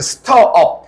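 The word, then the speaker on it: stir: 스터업. 스터는 원래 무슨 뜻이냐?이 발음이 스터예요. 읽어보자. 스터. 스터. ST이라서 너가 이거를 뭐 스티르 읽으면 안 되고 이건 스터.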